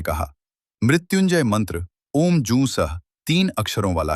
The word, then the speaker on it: ॐ जूं सः: सूत जी ने कहा, मृत्युंजय मंत्र ओम, जू सः तीन अक्षरों वाला है। पहले ओम का उच्चारण करें। फिर ज हु का उच्चारण करें और उसके बाद विसर्ग सहित स का उच्चारण करना चाहिए।